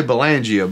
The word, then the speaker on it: Belangia: last name i'm going to say it bellongio but i know it's belangia bellangia none of us say it right in america so no we say belangia but like as far